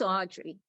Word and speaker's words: Audrye: truly and i appreciate it my name is audrey i spell it a-u-d-r-y-e i you need my last